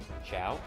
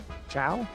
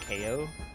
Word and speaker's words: Chao: Ciao. Ciao. Yeah, it's pronounced like goodbye.